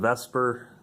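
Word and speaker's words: VSEPR: side pretty positive and Vesper is how that's pronounced as an acronym for valence shell electron pair repulsion theory right that should do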